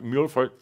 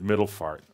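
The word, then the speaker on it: Middelfart: friend really for me that's how they say it in Denmark Milford like that Linda says middle fart and say no that's move or I know the Danish people are watching right no it's middle for Gopher yeah so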